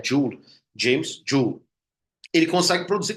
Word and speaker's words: Joule: A pronúncia correta é Joule, James Joule.